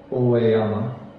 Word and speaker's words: Oeyama: Like Ikuno and the so-called bridge to heaven, Amano Hashidate, Mount Oe, pronounced in Japanese as Oeyama, is a geographical location in western Japan near the city of Kyoto.